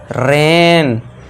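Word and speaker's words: rain: Next देखिए जब word में ए आई के बाद एन आए या फिर एल आए तो ए आई को भी आपको नॉर्मल ए से पढ़ना है। ए आई के बाद एन आ गया तो रेन।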